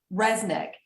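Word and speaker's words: Rzeznik: Resnick.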